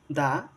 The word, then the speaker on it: the: এক কথায় দাদির সিবি মানে হলো কনসোনেন্ট সাউন্ডের আগে দা উচ্চারণ হবে এবং ভাওয়েল সাউন্ডের আগে দি উচ্চারণ হবে।